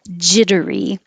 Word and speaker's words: jittery: to slow it down jittery these two T's will change to sound like D's if it's the adjective I feel jittery it'll be three syllables jittery if it's the noun